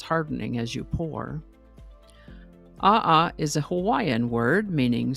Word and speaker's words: aa: is actually a word all by itself it's pronounced Aha and it's a noun that means basaltic lava